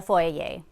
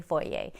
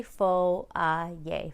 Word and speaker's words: foyer: pronunciation of foia yay i've been saying it the very american way foyer foyer but it's actually faux uh yay foyer so you'll be